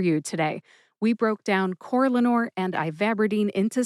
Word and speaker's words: Corlanor: So the brand name again is Corlanor, and the generic name is ivabradine. Corlanor and ivabradine.